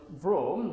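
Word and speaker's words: Vroom: Nah, cara bacanya ini kayak bunyi kendaraan ya. Vom VR VM kan gitu.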